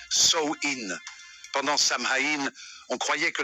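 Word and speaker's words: Samhain: ancienne fête celle appelé samhin prononcé sin pendant samhï on croyait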